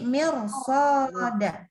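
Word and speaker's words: مِرْصَادًا: Nah, jadi bacanya huruf ro-nya ikut tebal. Jadi mirsoda. Mir bukan mir. Ya, jadi jangan mir, tapi mirsoda. Kanat mirsoda.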